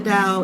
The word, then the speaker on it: Tao: If you can name the dow, if you can describe the dial, then what? It ain't the dial. You will see the dow it's t ao. The t is pronounced duh.